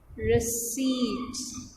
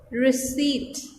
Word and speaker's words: receipt: It's receipt, and P is silent here. As you can see, I have written P but I'm not pronouncing it, so it's receipt.